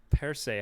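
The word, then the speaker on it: Percé: for this i'm ready thoughts on per se quebec persay how do you spell that p-e-r-c-e quebec it has uh wow you actually you actually pronounced that correctly yeah i'm i'm impressed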